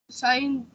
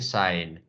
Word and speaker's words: sign: G is not pronounced here, so it's called silent. That's why it's not pronounced. Foreign sign.